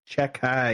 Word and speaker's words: Xhekaj: Check the spelling on that. It's Xhekaj. Chekai is how you pronounce it, though.